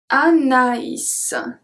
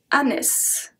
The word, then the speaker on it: Anaïs: I don't know if you remember the lesson about tréma, but that simply means that the letter has to be pronounced separately.